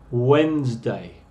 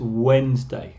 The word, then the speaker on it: Wednesday: Los nombres, fíjate algunos, por ejemplo, Wednesday. La pronunciación aquí es Wednesday, no es Wednesday, como se escribe.